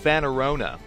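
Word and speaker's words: Fanorona: Anyways, Fanarona.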